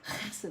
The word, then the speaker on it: hesed: It's pronounced hesed like that.